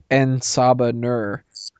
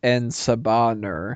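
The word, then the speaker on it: En Sabah Nur: wrong all these years I thought it was enaba Nur not en saur so now I kind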